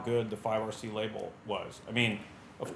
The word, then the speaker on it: 5RC: Because 5RC rhymes with by the sea.